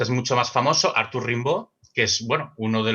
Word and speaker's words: Rimbaud: bueno, uno de los, o Rimbaud, ¿no? Que sería en francés un poquitín mejor pronunciado, que es para muchos uno de los fundadores de la... La I se pronuncia A en francés, Rimbaud.